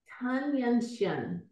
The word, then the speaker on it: Tan Yunxian: She says, how do you pronounce the name of your main character? Tan Yunxian.